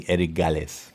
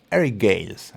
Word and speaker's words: Eric Gales: practicing the eric alice eric gales is the the right name i i would call him erigales you know here in argentina some some names if don't you don't pronounce them like that nobody understands you and so you have to say ericales but it's eric gales i think and so well let's